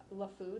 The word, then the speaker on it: LeFou: like the way I look at this is Lefou that's how you pronounce his name from beating the Beast right